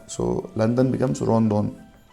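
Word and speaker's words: ロンドン: So you can see there is no L in Japanese, so they pronounce as ro. Instead of L, they pronounce R. So London becomes Rondon. Rondon.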